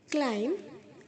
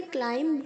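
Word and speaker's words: climb: क्लाइम क्लाइम्ड क्लाइम्ड, चढ़ाई करना, क्लाइम्स क्लाइमिंग। यहाँ पे मैंने क्लाइम्ब नहीं बोला है, बी साइलेंट है, क्लाइम्ब नहीं कहा है, क्लाइम कहा है म।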